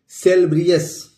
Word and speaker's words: salubrious: SALUBRIOUS, सेलब्रियस, इसको हम दोस्तों पढ़ेंगे, ये होगा सेलब्रियस, BRI से ब्री हो गया और अस हो गया, तो सेलब्रियस, इसको हम पढ़ेंगे सेलब्रियस।